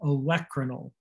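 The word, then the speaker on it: olecranal: a n a l electronyl the emphasis is on the e electronyl that's your olecranon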